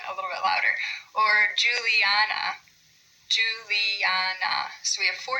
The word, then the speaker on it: Juliana: Or Juliana, Juliana. So we have four syllables there. Do we say Juliana, Juliana, Juliana, Juliana? So we pronounce it emphasizing the third syllable.